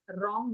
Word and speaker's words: wrong: When W R comes together, W remains silent and you can hear the sound of letter R, which is ra.